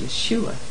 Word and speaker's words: Yeshua: name, the Messiah's name, is Yehoshua, and sometimes pronounced Yeshua.